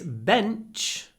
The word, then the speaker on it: bench: bench and the Ben the N is clipped because it comes before an unvoiced CH sound bent pause CH bench